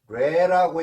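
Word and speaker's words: 뢰: 진이라고 읽는 게 아니고 레라고 읽는다 그 말이요. 레.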